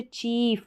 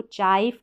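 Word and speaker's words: chief: जैसे चीफ, यानी इस आई ई का उच्चारण लॉन्ग रहेगा, लंबा उच्चारण रहेगा, थोड़ा खींच कर हम इसको पढ़ेंगे। जैसे चीफ, इसको चाइफ करके नहीं पढ़ेंगे, चीफ, थीफ, ब्रीफ, फील्ड, अब इसको फाइल्ड करके नहीं पढ़ेंगे।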